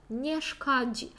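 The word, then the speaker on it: nie szkodzi: ніяк не зашкодило нешкоді нешкоді увага на Дж тут ми маємо дуже дзвінко це вимовляти нешкоді нешкоді далі можемо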